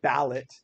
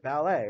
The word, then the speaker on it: ballet: it's it it doesn't it makes the a sound the long a sound at the end right it doesn't we're not we don't say ballot hey I'm gonna go